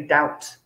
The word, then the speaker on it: doubt: say so we don't we cancel the b when we're saying we just say doubt doubt we said do you